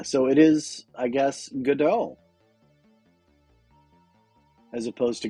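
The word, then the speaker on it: Godot: from Samuel becket's godal so the t is silent and the O are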